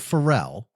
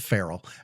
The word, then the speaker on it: Pharrell: Pharrell. Okay, gotcha. Yeah, I mispronounced it today, and the kids all laughed at me. I called it Farrell.